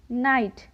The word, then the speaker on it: knight: आता हो तो वहाँ पर ज़्यादातर के का उच्चारण नहीं किया जाता है। For example KNIGHT नाइट।